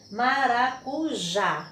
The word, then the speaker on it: maracujá: então nós tivemos aqui maracujá então observando que a última né é uma palavra polissílaba com 4 sílabas e a última sílaba é a tônica então a palavra maracujá